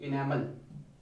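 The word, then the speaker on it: enamel: का, इसको बोलते हैं इनेमल, और इनेमल की उत्पत्ति होती है एक्टोडर्मल। ई से ध्यान रखना, इसकी इंग्लिश में स्पेलिंग तो ई से होती है, बाकी इसको एग्जैक्टली ऐसे इनामल बोलते हैं लोग, है ना।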